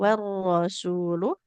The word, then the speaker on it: والرسول: warosulu dengan sinnya yang harus kita baca panjang Iya, dua Ustazah.